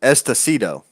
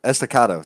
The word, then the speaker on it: Estacado: So I have been saying it wrong, and I'm being corrected. Estacado. Estacado. Estacado. Estacado. Estacado. There it is. Estacado. Got it.